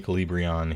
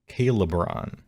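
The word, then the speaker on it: Khailebron: Command can only be issued by a friendly Calibrion hero. Sorry, I should pronounce this correctly, huh? Calibron.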